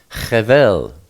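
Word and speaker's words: חבל: Chet is pronounced Ch, and Beit usually as a B, sometimes as a V, in this case V, and Lamed is L, so you have Chevel.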